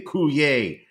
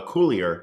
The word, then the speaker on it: Coulier: I have to say Coulier instead of Coulier, which is really, I believe, the proper pronunciation of his name. But he wants to be French, so he says, my name is Dave Coulier.